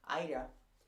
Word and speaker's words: Ida: a era aida ida i keep saying ada it's ida i don't know why